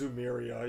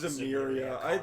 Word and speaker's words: Zemuria: A lot of people No, pronounce it Zemuria. differently. Zemuria. A lot of people call it just Zumeria, even though that's not the way to Zoomerville.